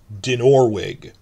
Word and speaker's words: Dinorwig: So the name of the big quarry set they built Harrenhal in is Dinorwig. I've been saying with the stress in the first syllable, so my outrageous New